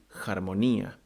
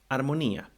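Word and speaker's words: ἁρμονία: Harmony in ancient Greek would be harmonia. But if you give that word to any native Greek nowadays, they would read harmonia because they have dropped the rough breathing.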